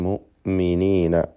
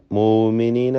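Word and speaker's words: المؤمنين: തറൽ മുഅ്മിനീന. ഹംസ ഷദീദായ അക്ഷരമാണ്, ഷിദ്ദത്തിൻ്റെ. അതുകൊണ്ട് അൽ മുഅ്മിനീന മൂമിനീന എന്നായി പോകരുത്, അത് പ്രത്യേകം ശ്രദ്ധിക്കണം.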